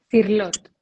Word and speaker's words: Cirlot: Y el diccionario de símbolos de Juan Eduardo, ¿cómo se pronuncia el apellido? Cirlot.